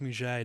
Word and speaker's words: Mudgett: Holmes moves to Chicago, or I should say Mudgett moves to Chicago and adopts the name Dr. HH Holmes. Dude, that is such an unfortunate name. Mudgett. Mudgett. Muget. It's Muget. It's pronounced Muget, darling.